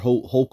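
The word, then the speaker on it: Hochul: the new process all right because Governor h hok all right last her name is pronounced Governor uh Kathy hok all right has has written off has signed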